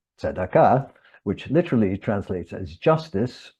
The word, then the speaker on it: Sadaka: Sadaka reflects the way Jews of Iberian origin pronounce the Hebrew word tzedakah, which literally translates as justice or righteousness, but is commonly used to signify simply charity.